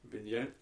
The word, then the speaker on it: Vigneault: Rangers fired their head coach, if I can get the pronunciation correct for this. You wrote it down. Alain Vigneault. Vigneault.